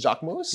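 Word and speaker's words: Jacquemus: It's Jacques Mousse?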